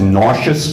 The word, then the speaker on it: Nassau: from the South Shore Nassau County or as it's pronounced nauseous County because of the accent we hear himself a